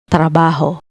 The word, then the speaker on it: trabajo: And the last one is trabajo. Consonant cluster tra, tr plus a, plus consonants ba and ho gives us the word trabajo. trabajo, meaning job or occupation.